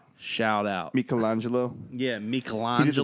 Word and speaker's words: Michelangelo: You gotta tell me that Michelangelo. It's pronounced Michelangelo, by the way. I'm just be real. Not Michelangelo.